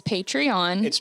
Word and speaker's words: Patreon: you pronounce this um it's patreon and the people that are there are patrons okay so yeah because